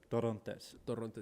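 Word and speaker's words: Torrontés: Torrontes. Yeah. Yeah. You gotta roll your R's a little bit with this bitch.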